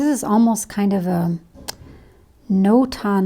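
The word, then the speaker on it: notan: dark so this is almost kind of a no-ton like design you can look that up it's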